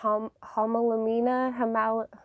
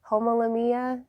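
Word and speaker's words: Homalomena: I found the Homolamina, I want to say it with an A, but I know it's pronounced with an O. Homolamia, I don't know how to say it.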